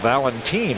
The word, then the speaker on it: Valentin: Now this weekend we'll see spelled the same way but pronounced Valentin, another outstanding shortstop for the Milwaukee Brewers.